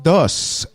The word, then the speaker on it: dos: Dos. You have to pronounce Dos. the S. Dos.